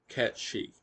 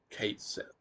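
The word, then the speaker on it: Cait Sith: Well, in Gaelic, this name would be pronounced Ketshi. In the Japanese versions of this game, that is the way that it is roughly pronounced. But officially, in English, we're meant to say Kate Sith.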